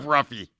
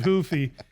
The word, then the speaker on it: Ruffy: If I sc if I was to say if I screwed up Ruffy, I give up. No, it's He's Brazilian so he pronounces it Hoofy in what's going to be an unbelievable fight.